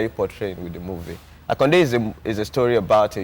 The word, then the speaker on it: Hakkunde: But the title is HAKKUNDE. That's HAKKUNDE. HAKKUNDE. So it's the pronunciation of the Hausa guy.